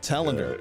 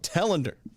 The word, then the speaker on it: Telander: Telander. I see. That's why I was pronouncing it wrong. Telander.